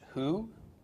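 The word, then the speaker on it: הוא: Bob with a Shahrukh followed by an olive pronounced who who in Hebrew means he and then that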